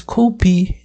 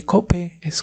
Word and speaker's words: cope: palabras de inglés la la e es muda siempre no es copy ni cop es Cope vale aquí es light